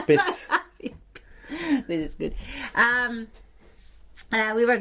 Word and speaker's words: Piz: the first time we were going up to Plitz. I really have to think so I say it right. Yeah, you didn't now. You did not do it. Okay. It's Piz.